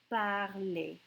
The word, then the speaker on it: parlez: We take the stem and we add an EZ, but it pronounces like an A.